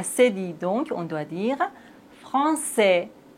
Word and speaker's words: Français: La cédille nous indique qu'il faut toujours prononcer cette lettre C. Regardez bien. K. Et maintenant, avec cédille, ça. K. Ça. Français.